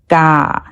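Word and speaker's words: ကား: Car in Burmese is just ga. Just pronounce it without the r sound at the end.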